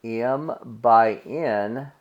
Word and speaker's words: m-by-n: we create is an m-by-n matrix and this is pronounced M by n so when we see